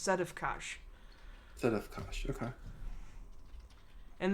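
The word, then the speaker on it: Sedefkar: sites that i listened to it was it's pronounced set of kash that of course okay and then simulacrum simulacrum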